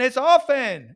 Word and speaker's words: often: It is silent.